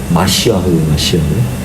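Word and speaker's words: משיח: 제가 메시아라고 썼는데 원래 히브리 정확한 발음은 마시아흐. 흐 발음도 보든지 그냥 히읗 발음으로 읽으시는 게 좋아요.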